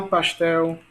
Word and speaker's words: pastel: Sofá, pastel. Palavra pastel. Palavra colorir. Perceba que a sílaba mais forte são quais, né? Em café é fé, em sofá é fá, em pastel é tel, pastel, né?